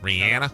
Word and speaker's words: Rihanna: Happy birthday today to Rihanna. Oh, Rihanna. Rihanna. That's her. That's how you pronounce her name. Rihanna.